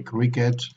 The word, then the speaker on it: cricket: So, but croquet is pronounced with without the T, and cricket is pronounced with the T as an exception.